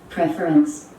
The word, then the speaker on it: preference: যখন ভার্ব হবে তখন প্রিফার, কিন্তু যখন নাউন হবে তখন উচ্চারণটা প্রেফারেন্স।